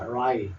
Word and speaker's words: rye: Rye. W는 묵음, 리을 소리만 내면 됩니다.